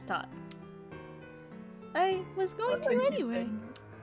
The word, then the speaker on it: Tot: I'm asking you to take Marcus to this toot. It's Tot. I was going to anyway. Well, get some rest before you go. I'm sure Ted needs time to prepare. It's Tot.